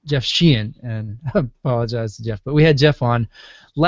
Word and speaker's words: Sheehan: So it's Jeff Sheehan, and I apologize to Jeff.